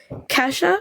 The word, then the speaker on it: Kasha: a perfect opportunity since Kasha, is that how you pronounce it? Yeah, like Cash App. Just think of cash.